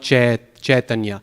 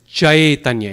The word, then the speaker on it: Chaitanya: that this I sound, sometimes Hindi speakers will pronounce it A or A, like Chaitanya, but in Sanskrit there's no A sound. It's not Chaitanya, it's Chaitanya. It has to be an I sound.